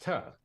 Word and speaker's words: to: And so what startled me the most is the word T-O, which is two. And yet he was critical that it be pronounced "tuh."